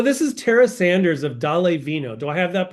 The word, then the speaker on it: Dále Vino: So this is Tara Sanders of Dále Vino. Do I have that pronunciation right, Tara?